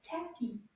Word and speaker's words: tapis: It's a rug or a tapis. Tapis. Let's see if we can find how many syllables. Combien de syllabes in the word tapis? Tapis. Tapis. I heard deux syllabes.